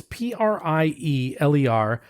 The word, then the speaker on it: Prieler: Prieler, it's Prieler, Prieler Johanneshöhe Blaufränkisch.